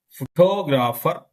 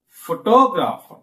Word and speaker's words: photographer: Photograph. stressing first syllable. Photographer, photographer, photographer. Photographic, photographic, photographic.